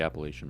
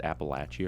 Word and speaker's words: Appalachia: Appalachian Appalachian appellation Appalachian I I hate when I hear people pronounce it like Appalachian yeah you guys got them Appalachian westerners I'm from Appalachia it's like you don't have to pronounce every single letter in a word uh that's how westerners